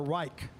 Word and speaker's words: Reich: Do you call R-E-I-C-H Rich or Reich? Reich. Reich?